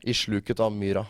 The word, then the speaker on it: I sluket av myra: Now, the other thing is Isluket av myra. Yeah, Did I say it right? I sluket av myra.